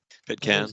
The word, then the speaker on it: Pitcairn: I think that's how you pronounce it, right? Pitcairn? Yeah, Pitcairn, I'd say, but fully endorsed as a recommended rabbit hole.